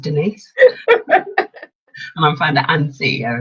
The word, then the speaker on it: Denise: Hi, I'm Dennis. It's actually pronounced Denise.